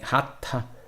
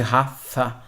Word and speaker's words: Hatha: Então ele brinca que quando o Hatha perdeu o Bindu, que seria essa pronúncia correta de Hatha, ao invés de Hatha, ele perdeu essa energia, essa questão de força, né?